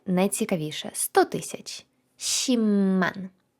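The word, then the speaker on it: 십만: і найцікавіше 100 000 шімман шімман вам не почулося написано п але вимовляємо М сімман 1 мільон пишеться пекман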